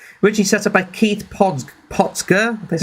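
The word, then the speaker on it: Potger: Originally set up by Keith Potsker, that's how you pronounce it.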